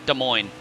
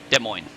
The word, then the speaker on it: Des Moines: but it is pronounced Des Moines the esses are silent Des Moines they'll basically just take the esses off and it's Des Moines yeah we we exactly